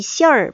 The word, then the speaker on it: 馅儿: 그래서 어떤 손지 물어볼 때 이 시얼 많이 쓴다고 알려줘서 굉장히 학생들이 유용하게 거기서 썼던 기억이 나네요. 시엔인데 보통 얼화 발음을 넣어요.